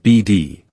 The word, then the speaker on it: Bead: the strange story of the bead Ranch pronounced BD another one of my